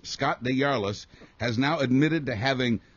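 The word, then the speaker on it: DesJarlais: pronunciation of this name it's French I believe deas Scott deas has now admitted to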